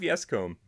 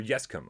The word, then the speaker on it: Yescombe: Rob Yescombe, or Yescombe, I pronounced his name wrong all the time.